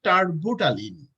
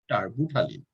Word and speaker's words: terbutaline: So that's you can say tarbutaline. The pronunciation is T-E-R-B, and also U-T-A-L-I-N-E, tarbutaline.